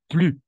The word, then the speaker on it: plus: Toujours plus après un homme, plus avec le S à la fin.